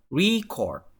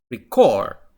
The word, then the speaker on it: record: For example, to pronounce record with the meaning of noun, so you said record. So the test takers should underline the syllable re, and then record it means verb.